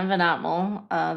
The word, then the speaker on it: VanAgtmael: I'm VanAgtmael. The G is silent, and I am the founder of Wandering Roots.